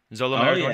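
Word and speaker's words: Maridueña: I'm never going to pronounce his name the right way. It's like Zolo Maraduena. Maraduena.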